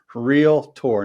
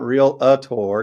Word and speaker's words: realtor: this way but um how do we pronounce r-e-a-l-t-o-r realtor real tour not real a tour you don't say a doc a tour uh and I know